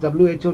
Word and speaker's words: WHO: पहले तो इसकी जो एब्रीविएशन है वो है WHO, इसे हम प्रोनाउंस करते हैं एज WHO नॉट एज हु।